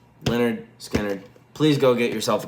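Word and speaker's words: Lynyrd Skynyrd: if you have not heard Lin Leonard Skannard pronounced Leonard Skannard.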